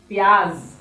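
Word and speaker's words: प्याज़: Pyaz. Okay. Now please pay attention to here. You have to say pyaz. Z z z. Pyaz nahi. Pyaz. Okay.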